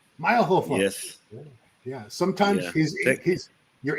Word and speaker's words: Mayrhofer: Did I say it right? Mayrhofer. Almost. Mayrhofer.